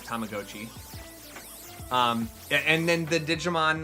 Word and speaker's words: Tamagotchi: Don't know how everyone I've known has been saying Tamagotchi all this time when the correct pronunciation is Tamagotchi.